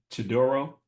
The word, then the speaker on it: Chidoro: And I got my guy here, Chidoro. Y'all pronounce that last name right?